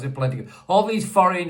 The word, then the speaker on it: Polendakov: I can't Polendakov. That's how you pronounce it. Polendakov.